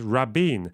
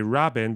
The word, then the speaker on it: Rabin: to tell you that the correct pronunciation is Rabin lazy Israelis say Rin but it's technically not correct my name is